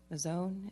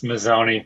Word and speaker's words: Mazzone: And I have Mazzone. Is that how you say it? It's Mazzoni. It's okay. Mazzoni, excuse me.